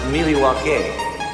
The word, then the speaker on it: Milwaukee: pronounced Miliwake, which is Algonquin for the good land.